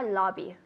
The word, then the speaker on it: lobby: So we're going to the lobby. I'll sit in the lobby. Lobby. Lobby. Good. And with the b, with your lips together.